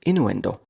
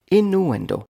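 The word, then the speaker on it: innuendo: or Community Day 20 today's word is inuendo inuendo four syllables inuendo inuendo is noun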